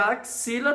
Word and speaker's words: axila: Ok e a palavra axila tem aí uma coisa que vocês precisam ter atenção ela tem cinco e não é cinco letras e 6 panelas porque os X aqui tem um som de KS Então você lê a